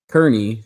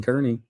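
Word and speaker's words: Kearney: Well, Bing Kernney shot an 89. Spell that for me. Just Bing K E A R N E Y. Bing Kernney.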